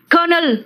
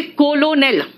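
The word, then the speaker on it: colonel: कर्नल बोलते हैं कर्नल, आर है ही नहीं। अगर आप स्पेलिंग के हिसाब से जाओगे तो कहोगे कोलोनेल, है ना।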